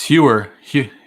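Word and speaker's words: Heuer: It's Hewer. I can never pronounce it right. Hoyer.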